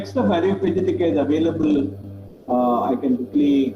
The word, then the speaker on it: Areopagitica: Areopagitica is available.